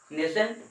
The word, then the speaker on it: nascent: या O2 में plus नेसेंट oxygen. ये जो सिंगल पीस ऑक्सीजन बचा है, दिखाई दे रहा है, इस ऑक्सीजन को नेसेंट ऑक्सीजन बोला जाता है। नेसेंट का स्पेलिंग देखिएगा यहाँ पर, NASCENT, नेसेंट।